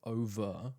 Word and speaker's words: over: You can almost hear the difference which is that I go for the British pronunciation of over where the R is silent whereas they go for the over.